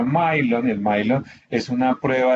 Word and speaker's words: Millon: una prueba que llama el Milon, el Millon, porque se escribe Millon, no se pronuncia Milon.